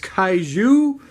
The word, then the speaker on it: Kaiju: cat racing it's a very weird name is pronounced Caillou I'm going to explain about it a little